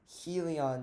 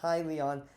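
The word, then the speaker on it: Hyliion: next one i want to talk about is helion right highly on i always need to correct myself highly on is the actual way you pronounce it from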